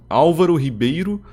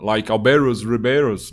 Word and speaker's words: Álvaro Ribeiro: between my friends, because my name is pronounced Álvaro Ribeiro, but a lot of years ago, an American guy pronounced my name like Alvaro's Ribeiros, like with a very strong American accent, and it became like a joke among my friends.